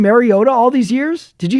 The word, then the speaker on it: Mariota: Washington starting their backup quarterback, Marcus Mariota, which by the way, were we mispronouncing Mariota all these years? Did you hear Tariq and Collins say it all game long? Mario. Marota.